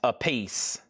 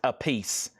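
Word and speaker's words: Appice: And it is pronounced a piece. Car mean a piece. It is pronounced a piece.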